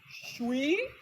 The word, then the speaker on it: 水: That's shui.